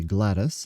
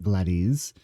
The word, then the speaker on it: Gladys: It should be Gladys, not Gladys.